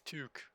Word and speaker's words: toque: say that word now it's not to it's tuque or how how is